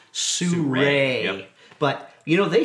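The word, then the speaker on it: SURUI: couple of years called, it looks like it's called Suru or S-U-R-U-I. I didn't know how to pronounce it. Well, until I guess actually what? asked somebody. It's pronounced Sure.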